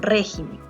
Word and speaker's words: régimen: Lo mismo acá con régimen. Régimen tiene la mayor fuerza de voz, a eso se refiere la sílaba tónica. Régimen, ¿no? Pero si yo pluralizo, lo vuelvo en plural, la palabra régimen, yo diré regímenes. Y ya no va a tener la sílaba tónica acá, sino está cambiando.